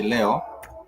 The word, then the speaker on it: leo: If you're talking about today, we do say leo, like you would say Leo, but it's leo for today.